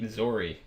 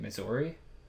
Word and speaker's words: Missouri: pronunciation of the state Missouri misery it's just terrible dude that boggles my mind I jump topics um but there are people that live in Missouri who pronounce it like misery you know they probably